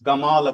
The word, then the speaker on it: Gamal: he is pronounced as Gamal Abdulas. So in language it's okay you are from linguistics okay they don't pronounce the sound which is not available in their alphabet but they sometimes they